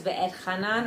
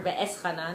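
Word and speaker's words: Va'etchanan: So this is on Parshas Ve'etchanan or Ve'eschanan, depends how you pronounce it.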